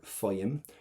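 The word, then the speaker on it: faighim: Faim. Do not pronounce that GH.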